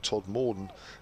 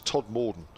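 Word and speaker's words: Todmorden: durham we can't get we can't let the southern pronunciation of todd morton go it's todd morden with the second part said a lot quicker in these parts keep up the good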